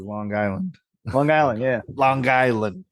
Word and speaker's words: Long Island: right he's you know he pronounces the G twice when he says Long Island Long Island yeah Long